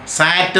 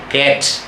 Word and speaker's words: cat: അതേസമയം ഇംഗ്ലീഷിലാണെങ്കിൽ CAT എന്നാണ്, സാറ്റ് എന്നല്ല ഉച്ചരിക്കുന്നത്. സിയുടെ അവിടുത്തെ ഉച്ചാരണം ക്ക് എന്നാണ്. ക്ക്, കാറ്റ്, കാറ്റ്.